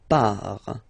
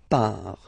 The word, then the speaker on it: pars: So the first form is je pars, so final S not pronounced, je pars.